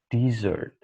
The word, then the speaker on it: dessert: While the other word is pronounced dessert.